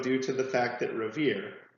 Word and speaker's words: Revere: to the fact that Revere rhymes with here in the poem.